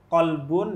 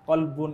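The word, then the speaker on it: قلب: Jadi, atau yang sering juga salah, kolbun dengan kalbun. Nah, kolbun itu hati, kalbun itu anjing. Iya. Bedanya jauh banget gitu. Hanya karena perbedaan huruf yang mungkin secara huruf kita bayangannya di sini qaf, tapi pelafalannya tapi kaf gitu.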